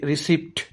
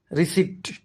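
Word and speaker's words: receipt: রিসিপ্ট, এই শব্দটিও অনেকে রিসিপ্ট এভাবে উচ্চারণ করে থাকেন, কিন্তু এটির সঠিক উচ্চারণ হল রিসিপ্ট।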